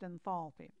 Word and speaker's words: enthalpy: Properties of enthalpy. By the way, that can also be pronounced enthalpy.